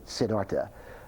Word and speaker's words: Siddhartha: Another book I highly recommend, a novel, very short novel, but a very wise book, a book called Siddhartha. Some people pronounce it Siddhartha, by Hermann Hesse, Nobel Prize-winning writer.